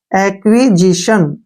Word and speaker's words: acquisition: देखिए ए सी से एक बन गया, ठीक है, क्यू यू आई से क्वी बन गया, और एस आई से जी, और टी आई ओ का उच्चारण स हो गया, एन से ने।